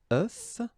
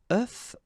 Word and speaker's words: œuf: And the tricky thing when we're talking about eggs is that if you listen carefully, the pronunciation is changing quite much, because for the singular form it's œuf, but then for the plural form here it's okay?